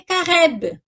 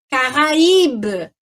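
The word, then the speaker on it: Caraïbe: Porque senão aqui eu ia ler careb, né? E não, aqui é para eu forçar ali no I, que é para sair o som do I. Caraíbe, tá?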